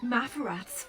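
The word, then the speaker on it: Maferath: This may be an account of Mafarath's final days, and perhaps more.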